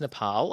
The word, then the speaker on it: Nepal: And yes, it is pronounced Nepal.